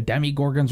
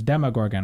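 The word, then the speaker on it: Demogorgon: You don't say Demi-Gorgon, you say it's Demo. Demo. Like, Demo-Gorgon? I say, like, it's like a, with, like a UH pronunciation.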